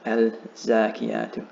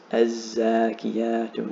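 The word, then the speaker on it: الزاكيات: And also, because of the shadda over the first letter, do not pronounce this lam. It's not al-zakiyatu, it's az-zakiyatu lillah.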